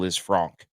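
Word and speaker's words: Lisfranc: Supposedly Liz Franc if you want to say it correctly.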